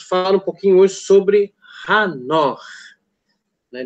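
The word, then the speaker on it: חנוך: E nós vamos falar um pouquinho hoje sobre Hanor. Né? De fato, esse é o correto, é a pronúncia correta, né? Enoch é o brasileirado, aportuguesado, né? Em inglês é Enoch, né? Mas o certo é Hanor.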